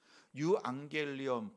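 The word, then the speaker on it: εὐαγγέλιον: 사실이 헬라어의 철자로는 우리 말하는 이자와 같은데 발음상 유안겔리온이니까 영어의 유라고 하는 철자를 한번 기억해 보세요. 어떻게 써요? 위에서부터 내려왔다가 옆으로 가서 다시 올라가는 거지요. 유안겔리온 복음이라고 하는 것은이 유자와 같아요.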